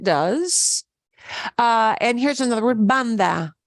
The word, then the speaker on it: banda: And here's another word, banda. Banda. And when you pronounce band in English, you'll feel a puff of air, but banda, you shouldn't feel a puff of air.